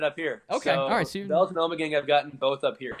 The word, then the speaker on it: Ommegang: New York if first of all is it pronounced Omega it's pronounced Ommegang okay and the only thing I know that